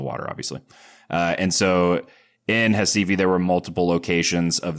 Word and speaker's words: Recife: I grew up in Recife. So that's ours are pronounced like H's, which is right below the equator.